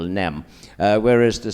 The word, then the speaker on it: nem: sentence together in Hungarian it is easier to say no always because it is one syllable nem where is to say